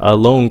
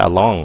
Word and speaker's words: alone: Alone. Cái này phát âm là alone. Đừng có along nha. Không phải along.